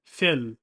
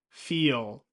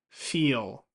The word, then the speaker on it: feel: Many non-native speakers pronounce this word as fill, fill. However, this is not correct, and it sounds like the word fill, like fill up a cup with water. That's not what we want. Make sure you're saying feel, feel.